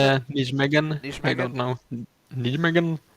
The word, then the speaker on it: Nijmegen: Is that how you pronounce Yeah, it? Nijmegen.